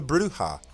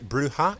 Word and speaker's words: Brujah: And of course, that leads us to the Brujah, pronounced Brujah in the original game and Brujah in the Masquerade Redemption, whichever pronunciation tickles your fancy.